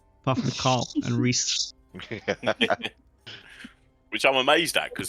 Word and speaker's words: Rhys: Which I'm amazed at because so many people pronounce it wrong. That's because it's spelt like a fucking lunatic. No, it's spelt correctly. Isn't that a Welsh Proper way? way. It is indeed the Welsh way.